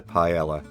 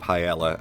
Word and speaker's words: paella: And yes, sorry, I will be pronouncing it paella and not paella, because I see that as the British pronunciation, and I feel a bit silly saying paella.